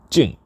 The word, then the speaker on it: 静: contend equals calm and the way that we pronounce calm is Jing Jing nijima nijima now a